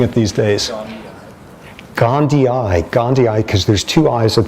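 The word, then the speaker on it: gondii: Okay, how are you pronouncing it these days? Gandhi. Gandhi. Gandhi eye because there's two eyes at the end which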